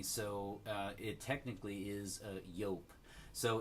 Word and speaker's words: Joop!: I'm pretty sure it's yoke so you guys can comment down below let me know if it's different but I'm pretty sure it's pronounced yoke and so this one is